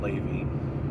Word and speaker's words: Levi: they pronounced you know they said kadas Levi instead ofous Ley so I just you know went in and edited it a little bit so I spelled l a y v e e so you should pronounce it Ley things like that and